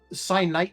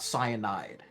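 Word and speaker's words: kyanite: Cyanite, not cyanide. But no, that's the thing. Like, I read it as cyanite, but it actually, the proper pronunciation of it is cyanite, which was a little bit too close to, So I was like, yeah, let's not.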